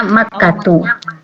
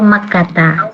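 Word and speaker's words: مكة: Itu dibacanya Makkatu atau Makkata. Nggak boleh dibaca Makkatin. Nggak boleh dibaca Makatin atau Makati, Makatun. Nah itu nggak boleh.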